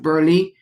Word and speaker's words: Burleigh: But I also want to highlight that in Forbes magazine, an article written by Nina, I think her last name is pronounced Burleigh, Burleigh, where she talked about